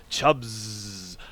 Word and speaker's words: Chubbs: How could I not emphasize the Z? Chubbs. SZ clearly calls for a long, drawn-out Z sound.